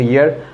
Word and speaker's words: year: a bachelor program and you pronounce it second ear is that the second year so you should be very careful when you use that so we must be used second year or a fast year or a third year